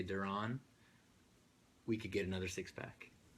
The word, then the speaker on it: Deron: Some might pronounce it Deron. I will accept any pronunciation because I know it's a weird If I had spelling. $1 every time I heard someone say Deron, we could get another 6-pack.